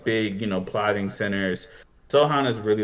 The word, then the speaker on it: Sochan: Maybe you could talk me into a little is it Sohan or Sochan? How do you say it? Sohan. It's Sohan. Yeah.